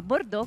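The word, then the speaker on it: Bordò: a pescare il bordeaux a bordo con l'accento sulla o che cos'è non è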